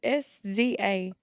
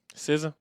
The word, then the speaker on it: SZA: It's SZA. SZA.